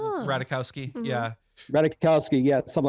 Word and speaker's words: Ratajkowski: Number 1 would definitely have to be Emily Ratajkowski, I believe it's pronounced. Yeah, Ratajkowski.